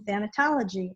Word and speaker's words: thanatology: And one of the things I did do a long time ago was get a certification in thanatology. And you did pronounce it right.